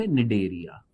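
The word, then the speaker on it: Cnidaria: ये निडेरिया शब्द भी कहां से आया, इंग्लिश के वर्ड से ही आया है, सी साइलेंट निडेरिया, ठीक है।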